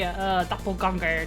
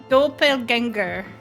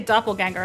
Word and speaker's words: Doppelgänger: The dots over the A means it's got to be pronounced in a different way than like ganger.